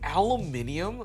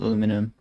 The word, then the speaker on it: aluminium: like the entire thing like did you say aluminium Al oh my God the influence oh my